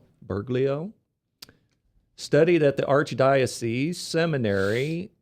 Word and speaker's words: Bergoglio: But here in Wikipedia, I looked up the pope, and it says under the Jesuit part that Bergoglio, how's it pronounced? Bergoglio.